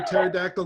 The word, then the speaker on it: pterodactyl: can't you hear a pterodactyl going to the bathroom what the p is silent that was a dinosaur